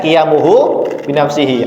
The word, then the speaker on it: qiyamuhu binafsihi: Kijamuhu binafsi itu bacanya qiyamuhu binafsihi.